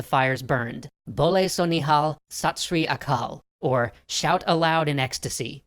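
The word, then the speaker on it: Sat Sri Akal: over as the fires burned bole so nihal satsri akal or shout aloud in ecstasy true is the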